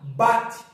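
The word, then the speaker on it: בַּת: que eu vou pronunciar isso aqui eu vou pronunciar bate e o que que significa Bat Bat significa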